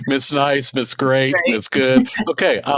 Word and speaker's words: Goode: listeners who don't know your last name is spelled g o de you probably say my name is Mrs good I understand that there